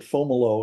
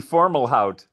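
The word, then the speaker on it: Fomalhaut: Yeah, they they pronounce it formalo and so I've sort of adopted that without thinking about it. Okay. You'll also see formal hout.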